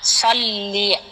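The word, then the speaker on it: صلِّ: আল্লাহুম্মা সাল্লি আলা মুহাম্মাদ। সল্লে হয়ে গেছে, সল্লি সল্লি আলা আলা মুহাম্মাদ।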